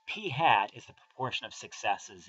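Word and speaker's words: p̂: usually call this number P hat uh that little arrow head above the P pronounce that P hat uh P hats is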